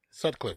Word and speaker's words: Sutcliffe: John Sutcliffe. I don't know how to pronounce his name. This dude is so goated. Sutcliffe, you said it right.